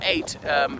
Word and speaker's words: ait: I mean so an 8 spelled pyo T or indeed AIT which is pronounced just like the number 8 or is an eighth